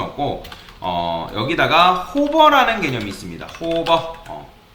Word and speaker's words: hover: 뭐 요거를 호버라고 읽거나 뭐 다양하게 읽는데, 뭐 요거를 어떻게 읽냐면 오버라고 읽는 분도 있고, 그 다음에 호버라고 읽는 분도 있고, 뭐 H 오버라고 읽는 분도 있습니다. 뭐 롤 오버라고도 하는데 저는 보통 호버라고 읽습니다.